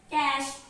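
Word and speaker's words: cache: And my last and final word is C-A-C-H-E. In easy style, we can read it cash, cash. So its accurate pronunciation is cash.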